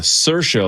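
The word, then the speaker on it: Saoirse: Remember she was on SNL and it's uh Cersa like inertia.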